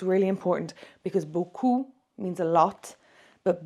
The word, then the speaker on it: beaucoup: It's really important because beaucoup means a lot, but beaucoup, like this, the way it sounds, that means nice bum. Okay, so it's really important that we pronounce that correctly.